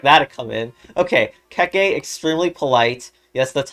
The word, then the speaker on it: Keke: Okay, Keke, extremely polite. Yes, that's how you pronounce it.